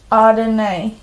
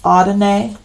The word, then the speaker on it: Adonai: power and the Peace of the one creator audinay and just one quick thing to mention here the way we pronounce ardene it's spelled a-d-o-n-a-i in the transcripts and I